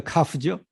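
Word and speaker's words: כ: 이걸 크라고 하지 않고 이거 카프죠. 카프. 크라고 하지 않고 흐라고 많이 발음합니다.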